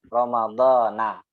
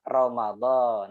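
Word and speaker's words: رمضان: jernya dia pakai Adha Romadhona saya dibacanya Wow shaumu dan puasa Romadhon Nah harusnya Romadhon ya Romadhon Romadhon Nyai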